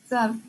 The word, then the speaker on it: soft: Soft. ¿Sí? Entonces... Se escribe S-O-F-T, pero la O se pronuncia como casi A, y entonces es soft.